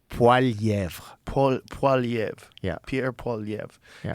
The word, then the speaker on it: Poilievre: I mean, if you say it with the proper French accent, yeah, it's Poilievre.